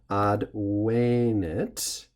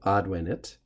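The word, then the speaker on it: advenit: the perfect tense though this e becomes long and so the pronunciation has to change accordingly odd way knit instead of oddwinet which would be the present tense odd waynet my time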